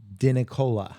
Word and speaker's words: Dinicola: All right, guys, I'm Samuel McVeigh with the Killer Growth Podcast, and today I have Dinicola. Yeah, you said it right.